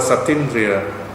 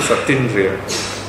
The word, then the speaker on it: Satindriya: Okay, Satindriya. So we cancel out one vowel so that we have a nice flow in pronouncing the word.